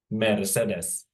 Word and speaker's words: Mercedes: that word so meres but in Finnish it would be very simple to pronounce since you don't have to know the different accents or intonations of a word so simply it would be metes it's always a Mercedes